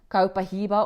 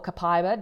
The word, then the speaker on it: copaiba: So oils that are high in sesquiterpene alkenes are ylang-ylang, one of my absolute favorites, black pepper, copahiba or copaiba, depending on how you want to pronounce it, melissa, as well as ginger.